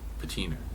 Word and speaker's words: patina: And then there's a lot of It's got a nice patina. patina. Patina. That's how you pronounce it.